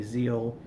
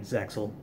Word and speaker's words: Zexal: I know it's probably Zeal from Japan, and America butchers it saying Zexal. I say Zexal anyway, even though I know it butchers it.